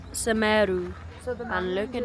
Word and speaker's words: Semeru: Teras Semeru. Semeru.